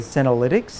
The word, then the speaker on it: senolytics: So I want to make sure I pronounce it right. Senolytics. Am I saying that correctly? Senolytics?